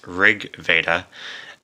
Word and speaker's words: RG Veda: back to LG Veda which it's actually pronounced Rig Veda um flipper doctor told